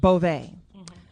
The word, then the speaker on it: Garcelle Beauvais: Garcelle, is it Beauvais? Or Bouveau? Yep. Beauvais? How you say it? Beauvais.